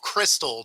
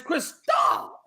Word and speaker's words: Cristal: With your takes, I'm thinking you want a bag of Crystal. Not, I think you're just saying it wrong. I said Cristal. The way it's supposed to be said is Cristal.